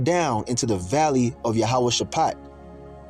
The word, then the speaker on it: Jehoshaphat: Jehoshaphat is how you say it in the ancient Hebrew.